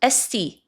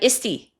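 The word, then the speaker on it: Esty: And by the way, it's pronounced esti, not isti, to the AI or the AI-like person.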